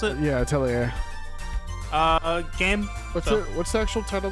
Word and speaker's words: Atelier: Is that how you pronounce it? Yeah, Atelier.